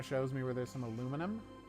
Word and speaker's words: aluminum: me where there's some aluminum or aluminium if you prefer to pronounce things incorrectly that makes perfect sense